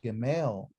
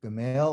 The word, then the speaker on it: Gimel: The modern name is called a Gimel. Okay. Gimel or Gimel. Gimel, depending on how you say it, doesn't matter.